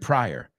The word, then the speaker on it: Pryor: and Richard Anterior, Richard Pryor. Bueno, Pryor se escribe con I latina, pero se pronuncia igual.